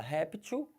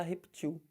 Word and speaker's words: réptil: Então você fala réptil, mas também pode falar reptil, tá?